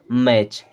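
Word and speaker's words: match: सकते हैं देखिए कैसे एम एटी सी एच यहां पर भी टी सीच है और एम एटी होता है मैट लेकिन यहां पे है टी सीच तो ये क्या हो जाएगा मैच क्या हो जाएगा मैच अब B eighty C एच B eighty का हो गया बैट लेकिन यहां पे है टी सी एच और टी सीच को हम पढ़ते हैं चा तो ये क्या हो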